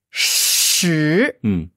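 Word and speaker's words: 十: Shi. Shi. Quel ton? Deuxième ton. Ouais, deuxième ton. Shi.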